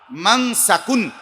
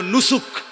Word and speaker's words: মানসাক: মিম নুন scene calf, ছোট calf, মানসাকুন, মানসাক। এই শব্দ এটা দুই ভাবে উচ্চারণ হয়, মানে দুইটা শব্দ। একটা হলো মানসাক, আরেকটা হলো নুসুক।